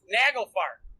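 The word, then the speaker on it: Naglfar: awesome no it is I said it right nagelfar nail Bearer yeah um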